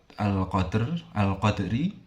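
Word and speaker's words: القدر: Cara membacanya dengan cara dipantulkan tetapi tidak terlalu kuat. Al-qadr.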